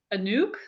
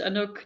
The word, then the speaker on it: Anouk: Um, Americans pronounce it like Anouk or Anouk or whatever. It doesn't really matter to me. So people can do whatever they want. I rather choose Anouk, like a nuke, because yeah, it makes more of an impact, don't you think? Yeah. And otherwise, it's Anouk that rhymes with book, and that's boring.